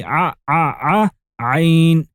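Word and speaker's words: عين: It's pronounced like the of ant, but much more emphasized. You say ayn.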